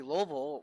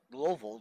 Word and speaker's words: Louisville: There was a earthquake that happened, and Kentucky Louisville, which they pronounce it Louisville down there, Louisville, which is the how everybody else who does not live there pronounce it, Kentucky Louisville.